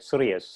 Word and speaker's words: Sirius: is a president of serious how do you pronounce it you did it right serious serious my take LLC and mr.